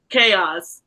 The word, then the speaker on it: Kayxz: Do I pronounce it Kayxz tarot? Chaos.